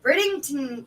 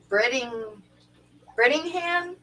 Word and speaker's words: Brittingham: And of course, Snoochie Booch, Dennis Christensen, Seth Brittington. Oh, here we go. Brittingham? Yeah. Brittingham. Yeah. No extra syllables. No extra syllables, yeah.